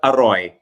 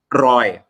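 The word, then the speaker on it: อร่อย: The word aroy is pronounced incorrectly in standard Thai. The correct way of pronouncing aroy is roy. Because o ang at the beginning means the throat has to be closed.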